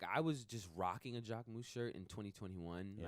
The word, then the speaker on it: Jacquemus: You have been embraced by Simon at Jacquemus. How do you say that, by the way? Simon. Jacquemus.